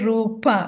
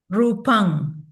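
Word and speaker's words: rūpaṃ: okay right so in modern singal say rup if you were chanting in parley and this word is rupang with a m sound no not the sound Okay.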